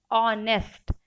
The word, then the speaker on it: honest: Okay, एक spelling है HONEST, ऑनेस्ट। Students, ये एच से स्टार्ट हुई है, एच फॉर हैन, एच से ये स्पेलिंग स्टार्ट हुई है, फिर भी हम इसको एन ऑनेस्ट पर्सन लिखते हैं। क्यों? क्योंकि भले ही ये एच से स्टार्ट हुई है students, but the sound is ऑ।